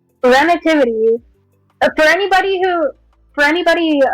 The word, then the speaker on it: Renitivity: But um uh Renativity, it is pronounced Renativity.